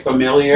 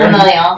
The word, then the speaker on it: familial: lot of this is how you say it familiar familial yeah it's familial like we a lot of